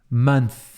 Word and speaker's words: month: então um mês só você vai pronunciar Man month e bota a língua no meio do dente month OK agora vários meses